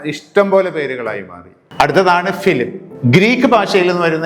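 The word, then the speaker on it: Philippe: France എന്ന് പറയുമ്പോൾ ഫിലിപ്പ് എന്നാണ് ഉച്ചാരണമെങ്കിലും എഴുതുന്നത് വ്യത്യാസപ്പെടും.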